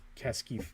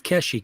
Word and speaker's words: Keshi: then you could start making Keski, or is it Keski? Is that how you say it? I think it's Keshi, Keshi.